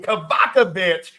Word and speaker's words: Kovacevich: the mic to Tanner Kovacevich. I hope I pronounced that correct, Tanner. Oh, you got it right.